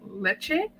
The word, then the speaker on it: Lecce: AC Milan's 3-0 win over, I think it's pronounced Lecce.